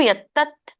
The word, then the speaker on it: ಯತ್ತತ್: ಮತ್ತೆ ಸವತ್ತು ಪ್ರೇಪ್ಸುನ ಕರ್ಮ ಯತ್ತತ್ ತಕ್ಕೆ ತವತ್ತು ಬಂದಾಗ ಹೇಳಬೇಕು ಯತ್ತತ್ ಯತ್ತತ್ ಸಾತ್ವಿಕ ಮುಚ್ಚತೆ ಯತ್ತತ್ ಸಾತ್ವಿಕ